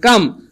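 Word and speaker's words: calm: ভাইয়া শান্ত একসাথে থাকলে এল এর উচ্চারণ হয় না এজন্য এটার উচ্চারণ হবে কাম তার মানে কাম মানে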